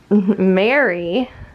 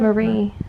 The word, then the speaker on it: Marie: Mary. Isn't that her name? Mary Kondo? Marie.